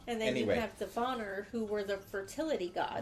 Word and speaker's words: Vanir: S-I-R, and then what I have deciphered as Vanir, V-A-N-I-R, which you pronounce as Vanir.